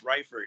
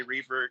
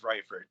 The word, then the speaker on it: Reifert: It's Reifert. Most people say Reifert, but it is Reifert.